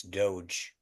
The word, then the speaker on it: DOGE: it um okay uh apparently I'm pronouncing Dodge wrong it's Doge doge is Doge I was gonna let